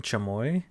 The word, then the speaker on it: chamoy: I would Josh never mispronounce chamoy. He's half Mexican. There's no way he could mispronounce chamoy. So I'm just thinking, like, why does this sound so off? It sounds so weird. It's spelled Kamuy.